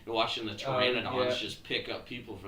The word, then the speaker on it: pteranodon: They're pteranodons is the name. PT is how uh the P is silent in pteranodon.